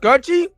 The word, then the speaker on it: Kouchie: It's pronounced Coochie. That's Cooch. Coochie. It's spelled Kouchie.